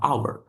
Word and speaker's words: hour: Terus contohnya lagi kalau yang ini ada jam ini tulisannya kan hor tapi bacanya adalah hour. Nah, jadi bukan a atau a hour tapi bacanya adalah an hour.